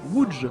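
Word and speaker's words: Łódź: D'ailleurs, je vous la prends, ça ne sert à rien mais ça se prononce Wood si vous voulez un petit peu flex en société.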